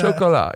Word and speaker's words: Chocolat: Chocolat.